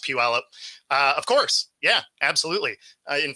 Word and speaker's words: Puyallup: So that's pronounced Puyallup.